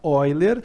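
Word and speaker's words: Euler: de número de ó ele se escreve eu ler mas se fala oi ler ele vai aproximadamente 2,718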